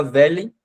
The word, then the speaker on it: veulent: Esse L, você pode tentar falar veulent e prender o L no final. Então fica velha, aí você começa a colocar o E um pouco mais pro lado, fica velha, e aí você consegue pronunciar a palavra certinho, tá?